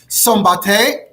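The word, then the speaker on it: Szombathely: So this city of Steinmanger, it's known today by its Hungarian name, which is pronounced something like Sombate.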